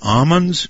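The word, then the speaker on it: Ammons: a call apparently from is it the amans family is that correct amens am okay amon's family that's a long a okay Aman's family and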